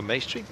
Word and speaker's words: Maestri: This is Maestri. Rhymes with pastry.